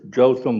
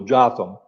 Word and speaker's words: Jotham: And you can pronounce this Jotham or Jotham. I find it a little easier to pronounce it Jotham.